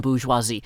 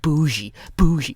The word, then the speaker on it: bourgeoisie: Thank you so much for actually pronouncing every syllable in bourgeoisie. I have found so many lazy people, just saying bougie.